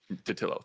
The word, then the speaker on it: Totilo: in gaming in general right um steven uh totilo said he pronounced that former kotaku uh uh writer um datillo thank you yeah i'm bad with names um